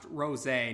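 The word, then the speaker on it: Rosé: detail yes it's pronounced Rose a not Rose and the reason for that is because the transformation is actually named after a French wine rose a that's the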